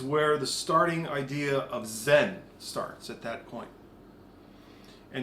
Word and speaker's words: Zen: It actually comes from a Chinese word called Chen, which the Japanese couldn't pronounce the CH, so they called it Zen.